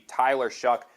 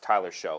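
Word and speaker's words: Tyler Shough: They're going to chance to get to see Tyler Shuck. I am so angry continually that his name is not pronounced Tyler Show.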